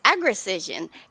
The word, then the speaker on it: Agricision: So how do I pronounce the company name? I can go ahead and tell you. It's Agricision. And how we came up with that name was, we wanted to put agriculture and precision together.